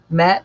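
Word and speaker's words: Maat: the punishing attack about Matt is pronounced Matt m80 matt is the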